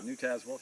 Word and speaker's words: New Tazewell: Is it pronounced New Tazewell? Yeah, New Tazewell, sure.